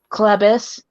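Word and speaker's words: Chlebus: mispronounced all the time what's your last name Clevis oh okay okay it's get it's spelled c-h-l-e-b-u-s and that's actually different I don't that's not like a common last name it's not you don't see very many clevises I'm gonna say I think that really sounds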